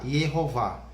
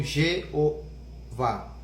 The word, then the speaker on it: Yehová: Que é o Y com o E ou IA, Yehová. Então, na transliteração, o que é uma transliteração? É você escrever como se fala e não como se escreve, entende? Então, Yehová, colocaram um J ali, virou Jeová.